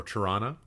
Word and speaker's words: Toronto: Just local festivals to Toronto, or Tirana, depending on how you want to pronounce it.